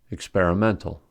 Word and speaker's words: experimental: On the other hand, experimental has primary stress on the 4th syllable and secondary stress on the second syllable, since experiment has stress on the second syllable. Organize, organization, experiment, experimental.